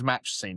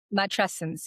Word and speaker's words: matrescence: And I think the feeling was match scene. Is that right? Is that how you say it? Matrescence.